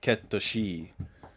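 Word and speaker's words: Cait Sith: it but yeah the the Katakana for for their name is is like k ketosi or something like that you know based on the the the Scottish folklore or whatever it is um but Kate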